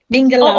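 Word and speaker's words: မင်္ဂလာပါ: to start by saying Mengalaba. It is hello in Myanmar, is it? Mengalaba. Okay. So that is correct, Ju. Is that correct? The way that I pronounce hello in Myanmar? Totally Mengalaba. correct. Mengalaba.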